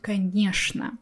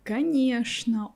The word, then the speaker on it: конечно: So I'm not saying конечно, I'm saying конечно. It all depends on the person and on the word. So for me, only these two words, что and конечно, will be pronounced with sh sound.